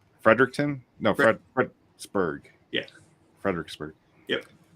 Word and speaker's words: Fredericksburg: just clarifying Frei frederickton no FR fredburg yeah Fredericksburg yep pronounce and spell the major river that you